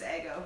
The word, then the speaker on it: Eggo: By the way, I used to call Ego all the time. I didn't know it was Eggo for the longest time.